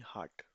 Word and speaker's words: hat: Hat नहीं heart. Okay, heart. A को अलिफ मदा से प्रोनाउंस किया जाता है. आ प्रोनाउंस मी आ.